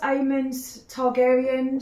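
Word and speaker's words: Aemond Targaryen: oh my god um I think it's pronounced aan targaryan so that's from House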